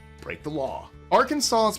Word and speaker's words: Arkansas: 3 syllables, stress on the first and last, and the final S completely silent. So it's Arkansas, not Arkansas.